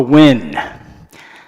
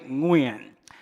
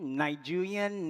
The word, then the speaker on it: Nguyen: And that's because people cannot pronounce my surname, which in Vietnam is actually Nguyen. But as a Vietnamese immigrant refugee kid growing up in the 1970s and 80s in America, no one could say it. So people tried all kinds of variations. There was Nguyen, Nigerian, Nagayan, then kind of Nguyen, and eventually Win. The Win pronunciation stuck and became especially prominent